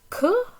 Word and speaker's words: que: to form questions so this ku that would be q-u-e but we drop the the e to make a contraction